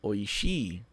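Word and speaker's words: 美味しい: quente mas oi oi não esqueça de pronunciar o último I tá não é oi é oi i que significa gostoso saboroso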